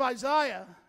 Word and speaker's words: Isaiah: Well, if you understand the book of Isaiah, yes, that's how you say it.